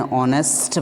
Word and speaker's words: honest: One more rule is there: if a word beginning with silent h For example, an hour, because here H remains silent, we pronounce it as an hour, an hour, an hire, an honest man, etc.